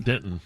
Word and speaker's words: Denton: You said Denton weird. You said Denton. Denton.